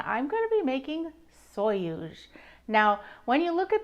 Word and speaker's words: sonhos: the Portugal collaboration I'm going to be making soyuz now when you look at the word it is s-o-n-h-o-s so I thought it was pronounced sanhas but thank goodness I looked at some videos